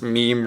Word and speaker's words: meme: And of course, meme rhymes with genes, and he says, you know, we used to live in a world where information was only exchanged through sex, sexual reproduction.